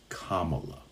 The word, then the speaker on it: Kamala: elected Kamala Kamala Harris it's Kamala Kamala would you like for me to mispronounce Donald Trump's last name